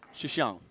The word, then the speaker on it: Xiang: So it's xi is the first thing by itself. She and then xiang.